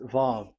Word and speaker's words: vav: So according to the old Hebrew word today, those who, the owner of the words, I mean, so it's a V. So don't change it into W.